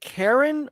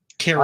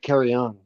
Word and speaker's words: Carrion: Is it Karen or Carrion? Carrion. I always pronounce it carry on.